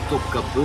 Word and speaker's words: Topkapı: ne prend pas de point, et ça se prononce E. c'est comme le palais. de Topkapı Voilà.